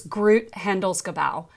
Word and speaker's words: Groot Handelsgebouw: It's Groot Handelsgebouw, and it roughly translates to Global Trade Center.